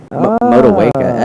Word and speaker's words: Motueka: It's going to be lemon drop and Motueka. Motueka, excellent. Okay. Thank you for the Excellent.